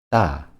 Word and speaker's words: 따: ㄸ – ㄸ 'ㄸ' se escribe agregando la consonante básica 'ㄷ'. 'ㄸ' se pronuncia de forma similar al sonido 'th'. Cuando estás practicando la pronunciación de 'ㄸ', es más conveniente pronunciarla con '뜨'.